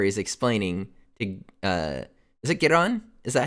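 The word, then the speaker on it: Giran: Because he explains, it's so perfect, because it's a flashback where he's explaining to, is it Giron? Is that how you say it? Yeah, Giron.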